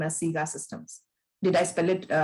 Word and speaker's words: SIGA Systems: If there is a pilot project which is coming to SIGA Systems, I see your name as SIGA Systems. Did I pronounce it right?